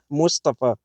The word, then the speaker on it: Mustafa: Now, my name is Mustafa in English, but in Arabic it's pronounced Mustafa. Mustafa in Arabic.